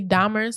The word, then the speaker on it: Dahmer: I think it's definitely Dahmer's.